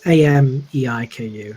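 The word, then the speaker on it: Ameiko: It's Ameiku, so Amiku.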